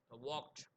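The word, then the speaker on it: walked: வாக்ட் அது நம்ம வாக்ட் அப்படின்னு தான் சொல்லுவோம். ஆனால் ஸ்பெல்லிங் வந்து பார்த்தோன்னா வாக்டு அப்படின்னு இருக்கும். ஆனால் ப்ரொனவுன்ஸ் பண்ணும்போது வாக்ட்.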